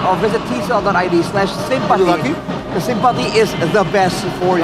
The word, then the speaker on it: Simpati: Then buy Sympathy or Simpati if you pronounce it in Indonesia and enjoy lots of